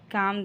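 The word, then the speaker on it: calm: हो जाओ you just काम down काम में एल साइलेंट है नेक्स्ट मैं उससे खुद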